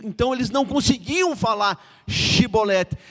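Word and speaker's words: Shibboleth: Esse fato aqui era para falar Shibolete. Mas eles falaram Sibolete, porque era um problema de pronúncia da língua.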